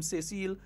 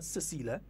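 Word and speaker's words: Cécile: by Her Excellency Excellency Dame say seal lagana not Cecila say seal say it properly right yeah Dame Cecille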